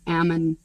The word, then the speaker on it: Ammon: away right i actually looked coming you keep pronouncing it it's ammon so i grew up in like ammon okay yeah which is where they wanted melanie